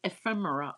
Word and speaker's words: ephemera: It's pronounced ephemera all over the place.